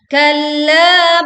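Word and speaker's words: كَلَّا: Kalla bal rana ala qulubihim ma kanu yaksibun. Kalla innahum an rabbihim yawma idzin lamahjubun. Perhatikan kalla, tekan lam bertasydid, lalu panjangkan 4 sampai 5 harokat.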